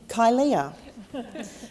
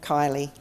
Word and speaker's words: Kylea: When people first see my name, many find it hard to pronounce and often call me Kylea, but it's literally plain Kylie, spelt in a way that only young, optimistic parents in the 70s could ever have considered.